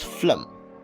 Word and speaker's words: phlegm: a phylum other than fire but no it's phlegm seen as in scene no it's as in quick right no it's pronounced as quiche for the last one you